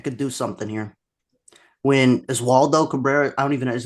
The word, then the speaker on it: Oswaldo Cabrera: When Oswaldo Cabrera, I don't even know, is that how you say his name? Oswaldo Cabrera? Yeah, Oswaldo Cabrera.